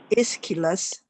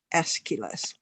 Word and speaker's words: Aeschylus: Every time you see AE, you can do an A or E. Okay, such as 爱琴海 some people say EG and C, some people say AG and C, because it's spelled with an A, half an A and half an E, clamped together. Okay, that's the name of the writer.